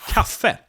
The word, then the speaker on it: kaffe: So for instance, we have the word kaffe. Kaffe, which means coffee. Kaffe. But the word café is stressed on the last syllable here.